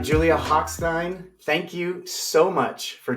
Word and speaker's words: Hochstein: actually hard for me because I'm a German major by uh by trade and so I want to pronounce it the real way and his whole family pronounce is at hackstein so that's what I